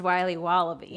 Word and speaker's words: Wiley Wallaby: Wiley's wallabies wallaby Wally's will be wobba beans pronounced Wiley wallaby well it's very good it's called Wiley wallaby